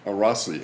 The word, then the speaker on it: Arasi: How do you pronounce that name? Arasi? Arasi. Araki? Arasi. Arasi, okay. Italian. It's Italian. Is Italian?